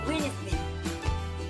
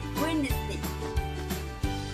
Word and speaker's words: Wednesday: Wednesday, what's our first silent letter? The E is silent. Wednesday. Don't say Wednesday. This is wrong. Repeat after me. Wednesday.